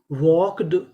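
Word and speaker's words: walked: डब्ल्यू एल के वॉक। यहां पे जो हमारा एल है वो भी साइलेंट रहेगा। इसका भी उच्चारण नहीं करना। तो मीनिंग बनी वॉक्ड।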